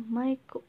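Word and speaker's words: マイク: Kemudian mic bacanya maiku pakai huruf katakana.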